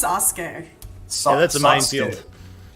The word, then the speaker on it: Sasuke: It's pronounced Sasuke. Yeah, that's a minefield. Sasuke.